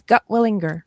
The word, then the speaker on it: Gutwillinger: Tell the world your last name because I butchered it and I apologize. You did not. You did very well. It's Gutwillinger.